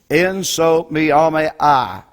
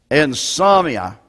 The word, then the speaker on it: insomnia: This is a hard word for me to pronounce. En-so-me-ame-I. In other words, when you can't sleep. How do you say that? Insomnia.